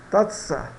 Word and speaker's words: taza: Taza, né? Tatsa, tatsa, tatsa, taça.